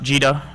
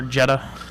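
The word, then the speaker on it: gEDA: uh and it's pronounced jeta or jeda yeah jeda mostly depending on which side of the pond you come from it sounds like right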